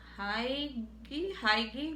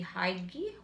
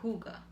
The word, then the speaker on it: Hygge: Okay, now this month's theme is the Haigi Huga, because it says here Huga, but this is spelled Hygge, and let me show you so you'll see it.